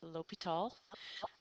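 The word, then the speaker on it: L'Hôpital: we are talking about L tall's Rule now looks like it says the hospital but it is not it's pronounced Lal um and lal's Rule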